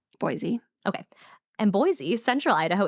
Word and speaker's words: Boise: Is it pronounced Boise or Boise? Boise.